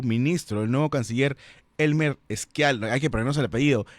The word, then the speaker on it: Schialer: Schialer, así se pronuncia, ¿no?